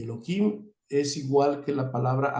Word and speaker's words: Elohim: eloim aunque también muchas no se dice Elohim se dice eloim ná para qué Porque